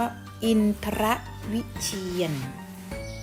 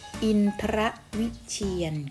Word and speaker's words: อินทรวิเชียร: คำ นี้ อ่าน ว่า อินทรวิเชียร ออก เสียง ควบ ร เรือ ควบ กล้ำ ไป เลย นะ คะ อินทรวิเชียร อุ่น หะ มี ภูมิ